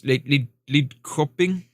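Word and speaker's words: Lidköping: Lidcoping. It's not coping. It's Lidcoping.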